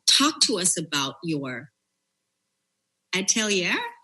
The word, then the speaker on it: atelier: Talk to us about your atelier.